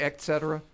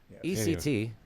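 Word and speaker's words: et cetera: was it's funny actually not to say etcetera etcetera ect that's that's a fox pronunciation ect alright must be from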